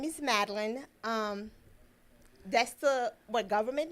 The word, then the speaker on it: Madline: So how do you like it to be pronounced? Madline. Madline. Oui, Just Madline.